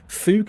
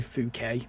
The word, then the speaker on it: Fouquet: Fook is actually Fouquet.